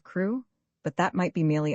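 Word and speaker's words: Crewe: Madame Pascal pronounced it as if it were K instead of crew.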